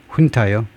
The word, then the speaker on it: junta: 그 군사령부 훈타가 그냥 사령부, 얌전하게 사령부라고 하는 거 우리가 훈타를 뭐라고 번역하죠? 보통요. 사령부는 너무 얌전한 말인데 그 훈타가 그 라틴 계통에서 나온 단어일 겁니다. 그래서 이 J를 준이라고 안 하고 흐 발음을 그 군사 훈타가 군사 훈타 이거 얼른 생각이 안 나.